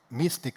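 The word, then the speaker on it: MSTIC: So basically they pay me to do my hobby and and what I do at Mystic as it's pronounced.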